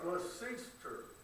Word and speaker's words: Gloucester: It's called Gloucester. The only way I remember that is glaucoma, which is Gloucester, C-E-S-T-E-R.